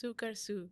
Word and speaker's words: Sukarsu: I feel like I'm gonna maybe mispronounce it, but Sukarsu? So it's Sukarsu. Sukarsu, yeah. I just totally whiteified it.